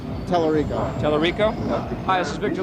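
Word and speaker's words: Tallarico: Telerico.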